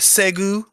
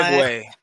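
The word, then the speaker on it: segue: Want to segu, if you will? Segu. Let me find out you don't Wow. know how to pronounce anything. It's Lord. Segway, like I'm what Paul dead.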